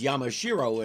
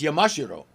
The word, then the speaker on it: Yamashiro: the third so Nakayama Spider-Man's last name is Yamashiro in American pronunciation and if you listen especially when the Amazon says it it's Yamashiro so if it sounds like I'm talking funny